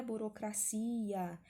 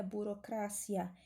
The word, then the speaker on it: burocracia: essa palavra em espanhola não é burocracia a sílaba tônica é diferente do português então em espanhol nome da tartaruga é burocracia e ela ganhou esse